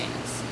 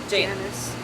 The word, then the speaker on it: Janus: Teresa Janus. Janice. Oh my god, I've gotten so used to saying it that I'm saying it wrong. It's Janice. Like the best character in Mean Girls, Janice.